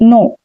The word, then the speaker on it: know: KN, यहाँ पर के साइलेंट है। जब भी किसी शब्द में KN आते हैं तो वहां पर जो के होता है वो साइलेंट होता है, जैसे KNO, नो। तो यहाँ पर आप नो कहेंगे, के का साउंड नहीं आएगा। नी, नाइफ, नॉट।